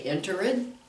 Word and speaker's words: entered: So do we say entered? No, no, because it doesn't end in a D or a T. Enter ends in an R. Entered, entered, entered. And I'm kind of pronouncing it, what do I say, strongly, because I want you to hear it, entered. I don't want you to pronounce entered or entered, and no T sound.